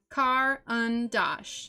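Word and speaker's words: Caran d'Ache: colors are chosen okay break karanda ash down into sounds car un dosh say it out loud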